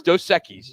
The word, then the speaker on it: Dos Equis: It's Dos Equis. You were saying it wrong when I heard you.